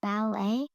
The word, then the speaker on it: ballet: Are you sure it's pronounced ballet? Yes, I'm sure. But may but it's spelled thoulette. So maybe you don't know.